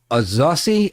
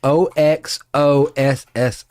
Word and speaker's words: Oxóssi: This is Oxóssi, Oxossi. And a tilde over the second O.